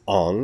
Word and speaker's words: Aang: could no longer call Aang Aang. Because Aang might more properly be pronounced Ong if it was part of a non-fictional universe, and we tried to relate it to names that actually exist.